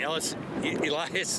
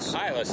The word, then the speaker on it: Eilis: Newmarket's I always say this wrong. Elias McKenna. Eilis. Okay, there we go.